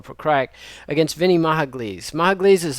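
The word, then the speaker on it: Pokrajac: never can say it poker Jack is how I would say his name but I believe it's Igor proc against Vinnie mahag mahag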